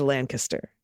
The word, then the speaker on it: Lancaster: Lancaster is Lancaster.